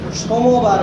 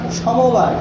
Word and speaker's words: সোমবার: সোমবার, অনেকে বলেন সমবার, সমবার না, সোমবার।